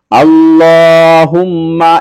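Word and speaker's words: اللهم: ইন্না নাস্তাুকা আল্লাহুম্মা ইন্নাস্তাুকা আল্লাহুম্মা এখানে যে আমি আল্লাহুম্মা বলেছি এখানে আল্লাহ শব্দটি লাম আল্লাহ শব্দের লামটি মোটা হবে আল্লাহুম্মা ইন্না আমি যেভাবে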